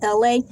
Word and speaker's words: Elay: My name is LA. Pronounced like LA like the city.